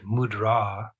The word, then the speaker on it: mudra: means in this context the word mudra the emphasis goes on the second syllable it means seal and